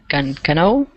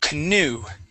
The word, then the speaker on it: canoe: what is this um Cano okay very close it's pronounced canoe ah canoe canoe okay